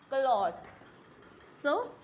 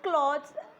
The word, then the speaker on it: clothes: we call as now we pronounce it wrong we call just clothes and we call it as cloths which is incorrect we call it as clothes a cloth and we